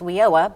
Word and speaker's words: WIOA: know about it well funny thing in the education community is wioa because they pronounce everything but yeah but it